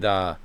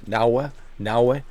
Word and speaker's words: Naoe: That's how Japanese pronounce it. Same thing with Naoe.